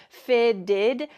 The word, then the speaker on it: fitted: Note that the pronunciation of this, fitted, those T's are going to sound like D's in American English because they're surrounded by vowels. Fitted, not fitted. Fitted.